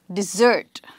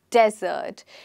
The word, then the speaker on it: desert: one is pronounced differently here the stress is on the first syllable we do not call it dessert we call it desert and desert is a